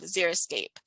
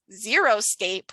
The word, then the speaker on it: xeriscape: Some people mispronounce it as xeroscape, which to me sounds like no landscape, whereas xeriscape can be colorful, it can be diverse and attractive.